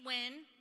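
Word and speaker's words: Nguyen: that is anti-democratic so my name is Wynn it is not spelled the way that it's pronounced so when you go to The Ballot Box it's n g u y e n and you just remember when with when we be winning foreign I thank you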